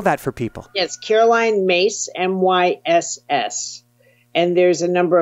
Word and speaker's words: Myss: YouTube channel it's my name perfect can you spell that for people yes Caroline mace m-y-s-s and there's a number of lectures and